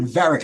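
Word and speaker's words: Varick: it's located at 200 varic Street that's spelled v a r i c k that's varic Street 200 veric Street that's on the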